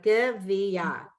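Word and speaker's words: גביה: The Gimmel has the Shava, so it's good. Yeah. The Vav has an E underneath it, V. The Yud has an A, and the Hey is always silent when it finishes the word.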